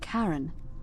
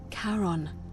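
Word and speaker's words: Charon: The name you heard wasn't Karen. It was C H A R O N. As in Karon, the fairyman of the dead.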